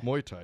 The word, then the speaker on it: Muay Thai: How do you pronounce that? Muay Thai. Muay Thai, yeah.